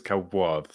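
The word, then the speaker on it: כבוד: So you remove the O sound, which is over here. So kavad versus what are we saying the O is? Kavod.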